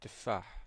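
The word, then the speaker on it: تفاح: We have ta, and it is pronounced as te, as in tufah, apple.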